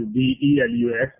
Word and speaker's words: DLUX: So it is spelled as DLUX, but pronounced as it was DELUX, DLUX.